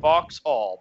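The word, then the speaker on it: Vauxhall: in in in voxel I've been saying box all but lately I've been hearing people say it like like sorta more run together voxels so I'm going with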